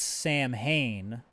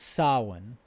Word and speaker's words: Samhain: mention here that the other sabbat midpoint is sawin and it looks like it's pronounced samhain the way it's spelled s-a-m-h-a-i-n but it's solon and i believe that's gaelic or irish or